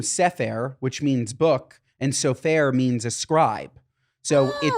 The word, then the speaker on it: Sofer: sofair comes from seair which means book and sofair means a scribe so it just became the pronunciation became a little bit more Americanized safur but it's really sofair or sopur S um